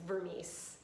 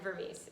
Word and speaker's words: Vermes: but jen jen vermees if you're wondering about the last name it's vermice um it's hungary and i know it's weird but um jen vermees is my name that's how you pronounce it no one ever